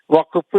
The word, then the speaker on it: വഖഫ്: എന്നൊരു വാക്ക് ഇങ്ങോട്ട് കേട്ടതോടുകൂടി അതൊരു അറബി പദം തെറ്റായിട്ടാണ് ഉച്ചരിക്കുന്നത് വഖഫ് വക്കഫ് എന്ന് പറയും വഖഫ് എന്നാണ് ശരിയായ ഉച്ചാരണം അത് ആ ഒരു നിലക്കും